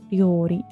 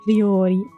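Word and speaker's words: 料理: Ryori. This is the one that Bibu can't pronounce. Ryori. Ryori. The more I say it, the more I can't pronounce it either. Ryori. Ryori. Ri and then yo.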